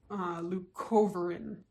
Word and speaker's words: leucovorin: It's also known as leucovorin. Leucovorin, I think is how you say it.